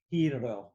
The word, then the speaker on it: Hiro: lemon when she said hiro it was kind of like hiro you know she like said it probably more how it would be in japan i would think yeah that is the proper japanese pronunciation right so she and